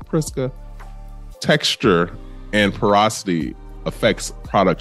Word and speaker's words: Prisca: It looks like it's supposed to be pronounced really pretty, and I want to make sure I pronounce it pretty because it's spelled P-R-I-S-C-A.